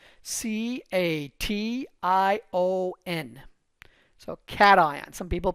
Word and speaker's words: cation: what positive charged ions are called they're called cat ions c a t i o n so cat some people pronounce it cashion it's cation i c a t i o